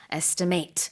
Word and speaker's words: estimate: Estimate. 동사일 때는 발음이 이렇게 estimate고요. 명사일 때는 estimate.